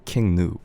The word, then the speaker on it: King Gnu: It's spelled with G and U, King Nu.